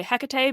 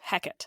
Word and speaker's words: Hecate: I'm going to say HEC because that is the Greek pronunciation of this goddess but when we refer